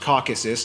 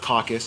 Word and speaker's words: Caucasus: eurasia by the way it's pronounced caucasus not caucus a caucus is when